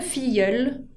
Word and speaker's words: filleul: Y para hablar de los ahijados, on dit le filleul, con la L final que se pronuncia, y au féminin, la filleule.